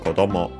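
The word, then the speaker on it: 子供: means uh child children by the way is also unacented uh yes so uh quite often when you want to speak about a child uh child children you use this kodmo and yeah most likely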